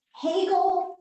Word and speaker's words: Hegel: and journey now is and in German it's Hegel has become fashionable again only because he's been